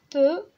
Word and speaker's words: peux: اما peu p e u x اللي قلنا هنا الاكس ما كتنطقش موي.